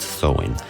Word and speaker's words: Samhain: back to the ancient celtic feast of somnheim pronounced sowing on november 1st the chels who lived 2000